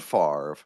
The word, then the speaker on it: Favre: it like Brett Favre, that it's not spelled Favre, but it's pronounced Favre.